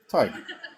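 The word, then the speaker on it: Tadhg: Does anyone know how to pronounce that in the audience? Tig.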